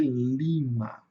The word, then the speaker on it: Lima: Aqui nós temos um I curto. E o I curto ele tem som de i mesmo. Então ele vai ser lima, tá? Lima. Lembrando sempre que a sílaba tônica tá no começo.